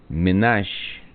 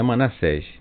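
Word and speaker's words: Menashe: Eh, a pronúncia do nome deles é Menash. Menasche, tá certo? Não é Manassés.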